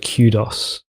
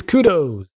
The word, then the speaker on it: kudos: one of my favourite things is listening to Americans say the word kudos. It's like, it's kudos.